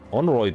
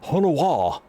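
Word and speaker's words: Honoroit: Onroyd, there's Onroyd. Onawa! Onawa, sorry. How could I not know that Honoroid was supposed to be pronounced Honowa?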